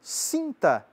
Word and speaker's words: cinta: Também existe o pantum cinta.